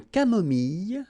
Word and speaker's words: camomille: nature, une tisane, une camomille. So remember when we get this E and then double L, it goes like y.